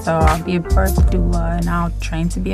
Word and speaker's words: doula: A doula.